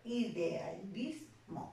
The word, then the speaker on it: idealismo: Si yo pronuncio la palabra idealismo, ¿no?, voy a reconocer que esta sílaba de acá es la que lleva la mayor intensidad, por eso será la sílaba tónica, y las demás se convierten en sílabas átonas.